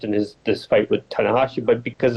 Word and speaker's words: Tanahashi: Japanese guy what'd you say his name was tanakashi tanahashi Hiroshi tanahashi yeah I mean I don't know much about